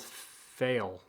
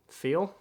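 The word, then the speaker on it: Pheil: reality warp by Donald fail feel he probably would prefer we pronounce it feel p-h-e-i-l that looks I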